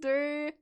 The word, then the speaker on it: Durdael: Oh, I keep saying D. I think it's die. I'm saying it the German way. Oh my god. I didn't even catch that. Oh no. I'm mixing my pronunciations. Durdael.